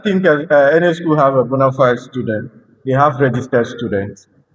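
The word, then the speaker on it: bona fide: Uh honorable member just correction it is pronounced bonafid not bonafide bonafid king's boys boys know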